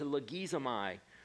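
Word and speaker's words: λογίζομαι: It's pronounced logizomai.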